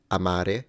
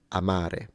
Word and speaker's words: amare: the word to love Amare it's clearly that the first a is shorter than the second so there is a quantity variance there or variable rather than a quality Amare Amare now I don't have